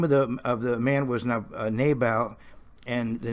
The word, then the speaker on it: Nabal: So the name of the man was Nabal, in American pronunciation, Naval, and there probably were